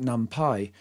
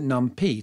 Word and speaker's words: NumPy: Americans will probably be inclined to pronounce it NumPy. It is, after all, called Python. Europeans, particularly perhaps those wretched Brits, tend to pronounce it NumPy to rhyme with lumpy.